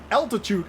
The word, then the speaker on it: altitude: I am going to lose a little bit of altitude again. Not attitude, altitude. Don't forget to pronounce the L.